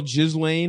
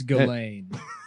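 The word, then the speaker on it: Ghislaine: his b his girl Jizlain or whatever the Yeah, it's Galain. They don't Yeah. None of the You don't pronounce any of the letters.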